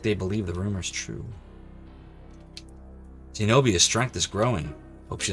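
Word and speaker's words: Xenobia: Zenobia. Well, it's an X, but it's pronounced with a Z. So really, it's like it's a Z in the name.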